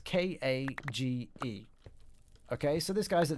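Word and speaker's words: Kage: I said I tell him the name isn't cage it's pronounced car ji ka GE and they're pronouncing it car G I so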